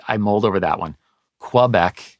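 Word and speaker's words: Québec: mold over that one Quebec is how you often hear it right and that is mental work for me from years half of my life or more French speaker visited Quebec right yeah and for for me it's it's quebecue uh so uh anyhow well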